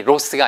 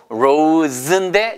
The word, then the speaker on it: rose: 예, 그리고 그래서 R-O-S-E는 발음이 로스가 아니고 로즈인데 그 Z 발음인 거죠.